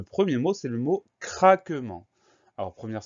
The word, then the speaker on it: craquement: On fait attention au son AN qui s'écrit E-N.